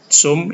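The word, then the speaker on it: zum: gute Tum gebur ST zoum ini ada set kali lalu diajarkan kalau ada set di awal kata dibaca seperti t dan S Zoom yang berikutnya di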